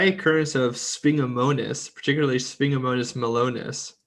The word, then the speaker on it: melonis: And the description here, just very quickly, is that a high occurrence of Spingomonas, particularly Spingomonas melonis, like melon, IS.